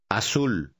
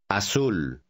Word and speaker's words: azul: Azul. Notice that the letter Z is pronounced just like the letter S in Spanish, never like our Z. Repita el número cuatro. Azul.